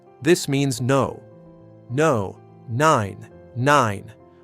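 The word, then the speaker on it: nein: Word number seven, nine. This means no. No. Nine. Nine. Rhymes with fine or wine.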